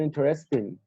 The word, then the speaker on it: interesting: find interesting, Interesting. You have the stress on the first syllable.